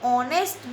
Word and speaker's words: honest: For example, an honest boy. Spelling is starting with H, but pronunciation is O. H will be silent.